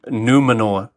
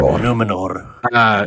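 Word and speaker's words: Númenor: Numenor. Yeah, that's how they say it. They always roll that R. Numenor.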